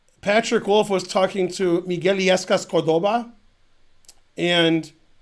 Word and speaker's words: Miguel: wolf was talking to miguelis cordoba and he was pronouncing his name miguel and then miguel said the u is silent and he said okay